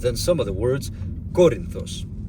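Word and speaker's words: Κόρινθος: But then some of the words, Corinthos. You don't say Corinthos or Corinthos, you absolutely have to say Corinthos.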